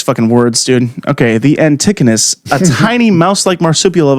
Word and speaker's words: antechinus: Well, this one, how do you say that? It's actually antechinus.